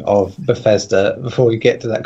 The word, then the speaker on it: Bethesda: Right, can you correct that guy on his fucking spelling and pronunciation of Bethesda before we get to that conference, please? Yeah, it's not Dissidia.